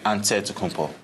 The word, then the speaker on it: Antetokounmpo: But in the Greek way, you say with the NT, like Antetokounmpo. Whatever you got, just say, you know, it's Giannis Antetokounmpo.